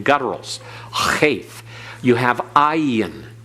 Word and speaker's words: ayin: Ayin, again, is often silent, but as mentioned before, sometimes it has almost a G sound, like in Sodom and Gomorrah. It's like your glottal, again, the glottal stop, but it's not as harsh as the cheth. It doesn't have the breath coming through it in an aspiration. It's just a constricting of the throat that's barely audible.